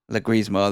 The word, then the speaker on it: Leguizamo: I can't pronounce his name right. Leguizamo, that's it.